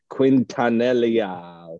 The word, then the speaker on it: Quintanilla: him because he's pedophile quintanellia some i might actually say that right q-u-i-n-t-a-n-i-l-l-a i spelled that to see if i felt if i said it right quintanilla okay anyway namaste